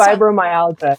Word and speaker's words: fibromyalgia: And that was really important because I don't think people understand fibromyalgia. Is that how you say it? Right. You know, I just fibromyalgia.